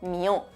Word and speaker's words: Mío Cid: Ojo, porque igual que en el texto de la canción esta palabra se habría pronunciado mió.